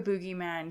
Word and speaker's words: boogeyman: I say it either you say Boogyman yeah like like dancing yeah not Boogeyman no not like booger or booger okay tou um I